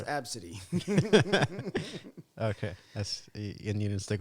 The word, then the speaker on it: ABCDE: Pronounced Okay. Absidy.